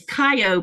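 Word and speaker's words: Kayo: But Lynette has an interesting name because her middle name is Japanese and it's Kyo, but it's spelled K A Y O, but you say it kyo.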